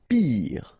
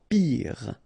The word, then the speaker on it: pire: Pire. Final E not pronounced, so R at the end. Pire.